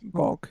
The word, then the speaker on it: awk: That's Geoc or Gawk if you prefer to pronounce it as a word. Gawk, yes.